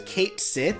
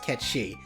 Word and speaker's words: Cait Sith: Like saying it as Cait Sith is saying it phonetically. It is pronounced Catchy, and I will fucking fight anybody who says otherwise.